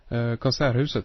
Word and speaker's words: Konserthuset: In Gothenburg, the way they've designed the, I think you pronounce it the Konserthuset? Konserthuset, yes. Oh, I'm pronouncing it terribly, yeah.